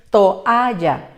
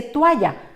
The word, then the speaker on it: toalla: Observa que hay vocales fuertes, por tanto su separación es toalla. Mucha gente por la pronunciación rápida dice toalla, por tanto podrían confundirse y decir que son 2 sílabas, pero es fundamental la pronunciación correcta.